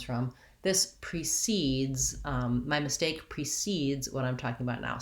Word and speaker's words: precede: The pronunciation of precede and proceed are basically almost one and the same. I often talk about how the I, the lax I, and the lax schwa, the unstressed syllables, that there's not much difference between those two.